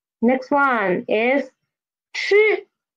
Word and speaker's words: 吃: Next one is 吃. 吃. 吃, it means eat. Eat. The initial is 吃, and the final is 一, and put them together is 吃, 吃, not 七, okay? It's 吃, 吃.